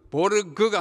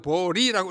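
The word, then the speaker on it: Swedenborg: 세 번째는 줄 베른, 네 번째는 에마누엘 스웨덴 보리, 이것도 보르그가 아니고 보리라고 읽어야 스웨덴 말입니다.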